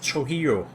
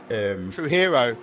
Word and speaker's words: Trujillo: I believe you're right, it's Trujillo. Because I was actually playing an old game called Baja. True Hero. Okay. Yeah. True Hero. Do that. Because the J is actually a bit like the Baja 1000.